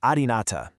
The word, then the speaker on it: Adynata: It's pronounced something like Adynata.